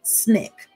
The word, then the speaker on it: SNCC: student nonviolent coordinating committee sncc pronounced snick a group of young